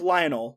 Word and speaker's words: Lionel: It's spelled like Lionel, like Lionel Richie, but it's pronounced Lionel.